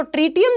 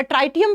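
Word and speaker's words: tritium: तो ट्रिटियम जो होता है, या ट्राइटियम भी बोलते हैं इसको, हिंदी में लिखते हैं तो इंग्लिश में ट्रिटियम प्रोनाउंस करते हैं।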